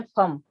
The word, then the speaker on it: फम: इसका बीजाक्षर है फम। फम बीजाक्षर है, फा फल का, फा पर बिंदी, फम।